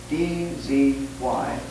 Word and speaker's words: Dzyan: So she hangs it, as it were, onto a very ancient manuscript known as the Stanzas of Dzyan, D-Z-Y-A-N, Dzyan. Difficult word to pronounce, and even more difficult in meaning.